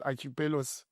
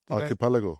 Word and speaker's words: archipelago: you call it a I never know how to pronounce archipelos archipelago aripalago yes it's that kind of a country with islands and all archipelago archipelago okay that's the right word they went this riots